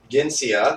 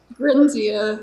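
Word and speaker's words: Grinsia: on a 3DS game because the port of Ginsia, if I'm pronouncing it correctly, the one that you worked on was for the 3DS, right? Grinzia, yeah.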